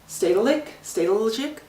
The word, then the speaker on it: Stedelijk: Stedelijk? It's, you probably don't pronounce the J, but basically it's like their modern art museum.